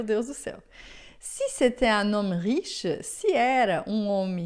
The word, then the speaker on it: un homme: rico, un homme riche, aqui a pronúncia a gente vai fazer uma ligação, vai falar un homme.